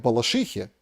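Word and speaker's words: Балашиха: что меня тут поправляют не в Балашихе, а в Балашихе, правильно говорить, извините, топонимами шибко не владею, но вот в Балашихе взорвался Volkswagen Polo.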